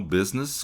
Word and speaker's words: business: Então, business com oito letras e seis sons. Olha só, 1 2 3 4 5 6 B, né? Que é B, que é um som labial, bilabial, né? Que a gente usa os dois lábios. Z n, né? Business.